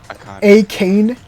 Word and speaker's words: Akane: Kame? She's the Akane, like. A Kane, kind of like that. Oh yeah, it's pronounced Akane.